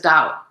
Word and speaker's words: Tao: in the mo in the pinching uh ch Chinese you might pronounce it as dao you know and and so but it's a difference between the pronunciation of the d and the t so um but there